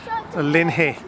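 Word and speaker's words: Loch Linnhe: it is on the shores of lock Lynn here and I checked that that was the correct pronunciation on Google before I said it Lin hey and last time we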